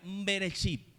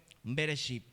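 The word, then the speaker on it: בראשית: Y en el hebreo se pronuncia beresip, ¿de acuerdo? Inicio, principio en el hebreo. Bereship.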